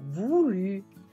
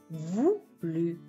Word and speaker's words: voulu: E fate attenzione anche alla pronuncia di voluto, dove avete un dittongo OU che si pronuncia U e una U francese, come diciamo noi, che si pronuncia invece U. Donc, voluto diventa voulu, voulu.